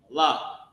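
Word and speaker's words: מלך: Ma, la, and the character ka connected. Malak.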